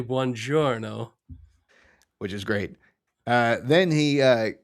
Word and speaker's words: buongiorno: It's pronounced buongiorno. Your mouth is getting lazy on the second syllable.